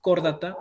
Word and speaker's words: Chordata: Todo lo que, bueno, para las personas que quieren seguir biología, todo lo que comienza, tiene CH, se pronuncia como que fuera la K. Entonces, la K, K-O es Chordata.